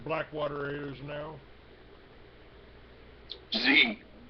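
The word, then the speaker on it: Xe: black water is now z z yeah it's called Z Yeah x e pronounced Z now you know Z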